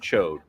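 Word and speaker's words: Ch'od: try to say well that's not how you pronounce his name no it is his name is chode I don't give a what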